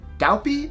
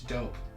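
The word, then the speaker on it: DAUPE: It's D-A-U-P-E. Is it Daupy? Is it Dup? I don't know. The A-U is like an O sound. It's dope.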